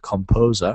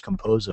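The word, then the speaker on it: KompoZer: Now, the one that I recommend if you're looking for a free one is called Composer, spelt with a K.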